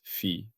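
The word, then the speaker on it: phi: We pronounce it fi.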